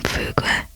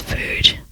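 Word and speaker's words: Fugue: I keep always wanting to say her name Fug, but it's Foo.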